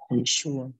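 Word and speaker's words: Yeshua: sini kemudian yang berikutnya jadi yesua tulisannya y e s h u a itu adalah cara pengucapan Oh pronounciation kalau gak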